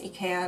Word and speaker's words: IKEA: figure out if like the IKEA in Japan is pronounced IKEA. Apparently that's more similar to the original pronunciation, so that's why I call it IKEA now.